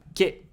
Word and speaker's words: け: Ke. It's pronounced like ke in kelp.